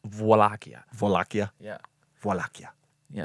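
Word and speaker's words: Wallachia: Yeah, it's spelled uh W A L L A C H I A. Wakia, but it's Vakia. Wakia. I think I think it's like a V and a W together. Vakia.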